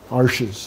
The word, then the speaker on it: Arches: Arches, it's pronounced, just like my name, Archambault.